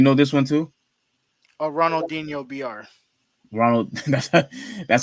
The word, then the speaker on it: Ronaldinho: gonna do you know this one too oh ronaldinho br ronald that's how you say it for